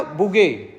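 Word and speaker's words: bougette: ये टर्म बन गया बुगे। डबल टी ई को हम साइलेंट करके बोल रहे हैं। ठीक है? बुगेट बोल दीजिए।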